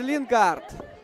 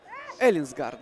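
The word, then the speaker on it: Ellingsgaard: Эстер Лингард делал этот прострел. Эллинсгард, да, прошу прощения. Так эта фамилия произносится, крайнего полузащитника Фарерок.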